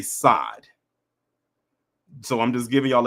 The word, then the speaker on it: Sade: they're going to say, instead of saying Sade, they're going to say Sade. So I'm just giving y'all a heads up, because I don't want y'all saying, who the hell is Sade?